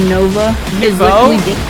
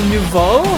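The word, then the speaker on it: Nouveau: noticed the tri slasher Nova you mean the tri slasher Novo not Nova Novo look there's too many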